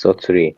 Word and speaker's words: Satoru: Yes, Soturi.